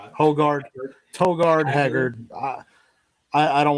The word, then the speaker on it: Højgaard: He's like Hojgaard. Like Hojgaard, right? Oh uh it's Højgaard. Højgaard. You can you can There's no shot. Højgaard.